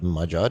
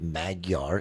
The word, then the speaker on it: Magyar: It's Magyar, not Magyar Investments. For those of you heathens who have no Eastern European friends.